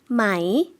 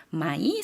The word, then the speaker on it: ไหม: ไหม 네, 마이 사성으로 발음을 해주시면 되고요. 그 다음에 또 다른 의문조사가 하나 나와 있는데요.